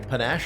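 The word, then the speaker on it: panache: about panach speaking a panach it rhymes with Dash is Dash a good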